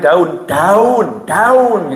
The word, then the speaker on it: down: Kalau turun DOWN ya. Ya, antara dan sama, nah saya suka salah gitu karena saya bingung bacanya apa. Saya diajarin, Beb, itu bukan yang DOWN tuh ya. Ya, itu sama dengan daun gitu ya.